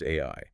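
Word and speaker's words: 愛: The Japanese kanji for love is pronounced AI.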